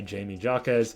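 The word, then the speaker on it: Jaime Jaquez: than Triple J now supposedly his actual name to say his name is jameh hakz now I just say the American way where people say Jamie Joz So Jamie you know the American way of saying it 23.5 points ribs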